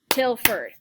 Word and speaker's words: Tilford: that's two syllables um my last name tilford till ferd is two syllables um poetry is three